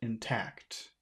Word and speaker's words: intact: both of them intact which one sounds best intact is the second one yeah the second syllable because if it were